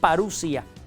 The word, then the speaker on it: parusía: nuestro Señor Jesucristo, la parusía. Se escribe parousía, se pronuncia parusia.